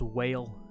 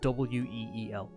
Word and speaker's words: wheal: It's W. So you pronounce it WEEL.